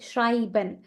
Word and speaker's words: schreiben: Schreiben. Why it's not Shriban? क्योंकि यहाँ पे E और I है, तो ये I की तरह pronounce होगा, right? So it's that is why it's Shrai, I, Schreiben.